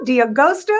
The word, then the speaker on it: D'Agosto: want to welcome the fabulous actor nicholas diagusto dia gosto am i pronouncing that right yeah you you did great